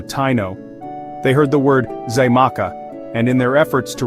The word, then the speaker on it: Xaymaca: The X sound, which the Taino pronounced as shach, was interpreted and transcribed into Spanish script, eventually evolving into a J sound.